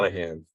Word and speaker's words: Monaghan: Is it Manahan? Is that how you pronounce Monaghan. Yeah, it? Tom Monahan? Monaghan.